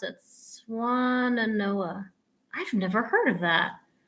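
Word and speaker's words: Swannanoa: How do you pronounce it? Swananoa.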